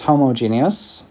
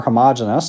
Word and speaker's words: homogeneous: If the fluid is homogeneous or homogeneous, depending on how you say it and where you're from, we might say that the stress tensor does not depend on particular position.